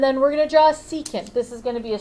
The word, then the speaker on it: secant: today we're gonna talk about tangents cousin the secant I know it spelled sick can't that's right